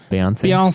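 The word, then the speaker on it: Beyoncé: Beyonce.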